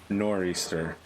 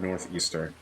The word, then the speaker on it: nor'easter: my east coast friends it's pronounced nor'easter not northeaster because i don't know